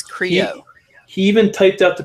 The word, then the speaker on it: Creo: What'd I say? Like Karo syrup, but it's Creo.